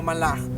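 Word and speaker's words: מלאך: torá el sentido de la palabra Ángel es correctamente pronunciado con como malaj del plural malajim que quiere decir nada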